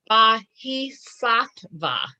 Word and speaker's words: Bodhisattva: So this Buddhist deity, because this gets a little fuzzy, we have different accounts of a Bodhisattva, Bodhisattva. That is how I'm supposed to pronounce it.